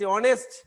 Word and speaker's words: honest: প্রথম লেটারটি হচ্ছে এইচ, আর দেখা যাচ্ছে এখানে এইচ এর উচ্চারণ হয় নাই, এখানে HONEST অনেস্ট, এইচ এর উচ্চারণ না হয়ে পরবর্তী ভাওয়েলের উচ্চারণ হলে সেক্ষেত্রে এ না বসিয়া এন বসবে।